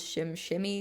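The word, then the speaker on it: SimSimi: Also, as a disclaimer, I know the way it looks is Sims. Um, but from a couple of things that I've read online, the correct pronunciation is Shim Shimmy, so I'm going to be pronouncing it that way.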